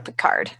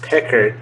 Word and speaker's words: Picard: So for you, it's Picard. Only it's Pickard. It's Pickard. We moved to American. We mispronounce it.